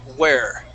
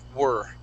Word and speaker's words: were: the between the two remember where has an H yeah I know to that all right so so you were stranded you were stranded you uh were no that's hard now just because you said it uh were okay think more of an IR sound were you were stranded